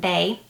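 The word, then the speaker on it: Baies: If you have the Bay candle, the B-A-I-E-S, it's pronounced Bay, it's really good.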